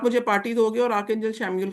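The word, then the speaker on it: Chamuel: श प्रोनाउंस होता है सी एच ए एम यू ई एल शम्यूल ठीक है तो इसलिए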